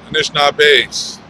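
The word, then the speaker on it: Anishinaabe: And how do you pronounce the name at the bottom? Anishinabe.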